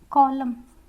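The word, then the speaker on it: column: डैम, यहाँ पे भी हमारा एन साइलेंट है, चुप हो जाओ। कॉलम एंड हिम, लाइम, तो सब में क्या है?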